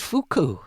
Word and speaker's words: Fuku: It's pronounced fuku.